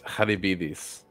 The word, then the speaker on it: Charybdis: And other one is I'm gonna get pretentious and do the real Greek. It's Haribidis. Hanabidis.